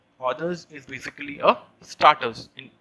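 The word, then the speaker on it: hors d'oeuvres: the others but the correct but the correct pronunciation is others others is basically a starters in in india we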